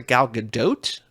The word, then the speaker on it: Gal Gadot: on hot ones recently I think she pronounces a Gal Gadot which is a third pronunciation okay um I will